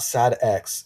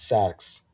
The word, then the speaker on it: Sax: pronounce it. Sax. Not Sad X, it's Sax.